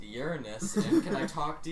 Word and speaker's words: Uranus: from and you're like they came from your anus and I remember missa was like um I think it's pronounced Uranus and can I talk